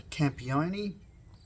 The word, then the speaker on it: Campione: So Bardic and Stark, this is a Campione. I'm pretty confident that's how it's pronounced.